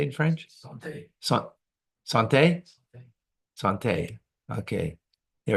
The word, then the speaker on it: santé: Santé.